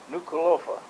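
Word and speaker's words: Nukuʻalofa: the town there is nuka lofa n-u-k-u-a-l-o just like it's pronounced you know those polynesian terms are are just like they're spelled and you pronounce every vowel now when was this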